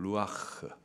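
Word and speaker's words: רוח: 바람이라 이렇게 말을하고 있습니다 말하는 바람에 히브리식 발음으로 말하면 루아흐 그 뜻은요 성령이라는 뜻도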